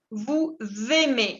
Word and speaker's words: vous aimez: Quel jour vous aimez? Acá me hacen la liaison entre la S y la A. Vous aimez.